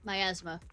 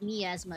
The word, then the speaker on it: miasma: Myasma is correct, but niasma is how I want to say it.